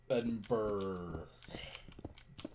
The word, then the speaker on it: Edinburgh: Um, oh, but sorry, my trip edinber, Edinburgh. I don't I don't know how to pronounce Edinburgh, whatever. Like, there's an extra pronunciation. There's an extra syllable there even though it's not there in the word, which is really stupid to me.